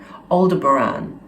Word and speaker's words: Aldebaran: on some of the live streams they also pronounce it aldebaran so that gave me that gave credence to